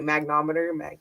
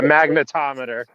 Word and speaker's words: magnetometer: a mag I don't even know if I'm pronouncing it right. Magnometer. Magnometer. Yeah. Magnetometer.